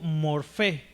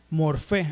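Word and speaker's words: μορφή: En el griego, fíjense bien esta palabra, la lo que se traduce por forma viene del griego morfé, ¿okay? Morfé, así se pronuncia, ¿verdad?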